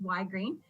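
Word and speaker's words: Ygrene: so for w green W Green in case you didn't know it is the word energy spelled backwards uh most people still can't pronounce it even if they've known about us for years but it's y green and we provide residential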